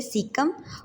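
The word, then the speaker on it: caecum: सीकम, colon and रेक्टम। इसे हम ए को साइलेंट कर देंगे। सीम, कोलन एंड रेक्टम।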